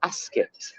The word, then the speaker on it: Ascot: were a bit weird they said Ascot they go to Ascot and they called it askit I've looked into that